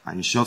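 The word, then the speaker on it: Ein Sof: Einshof, c'est la correcte prononciation de « sans limite » en hébreu.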